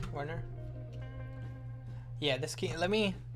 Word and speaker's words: Werner: on internet so far is uh reinvent um burner is that how you say his name Werner yeah this key let me let's actually do